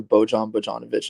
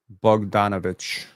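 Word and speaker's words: Bojan Bogdanović: very many of those bug donovich my bad I got you yeah the I is itch in most cases okay the Los Angeles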